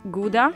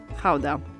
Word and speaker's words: Gouda: Depending on whether you're a native, you would pronounce it either Gouda or Gouda. So since we're talking about authentic Dutch cheese, we're going to call it Gouda.